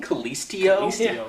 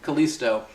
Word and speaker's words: Kalisto: and had you know I keep saying callistio you're wanting to add more syllables Kalisto uh doing a crazy